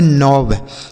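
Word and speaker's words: knob: तो यह के साइलेंट है। इसे पढ़ेंगे नोब। के एन ओ बी नोब।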